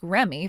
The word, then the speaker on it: Reme: Dale, I was able to ask Remy for her real name and she gave it to me. Oh, seriously? She has it spelled as Reme, but you're supposed to pronounce it as Remy.